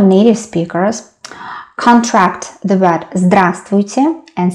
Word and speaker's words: здравствуйте: And as you can see, letter v isn't pronounced here.